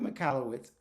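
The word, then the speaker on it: Michalowicz: his name deserves to be said right Mike mallwitz wrote this book I think almost probably about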